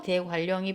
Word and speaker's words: 대관령: 그러니 생일날이 지금 여러분 눈에 보일 것이고 대관령이 보일 거예요. 자. 자, 그렇게 돼서 요거는 생일요 리을 때문에 요것이 그래서 생일날 요렇게 발음이 될 겁니다. 음. 또 이거는 대관령 이렇게 발음이 되겠죠.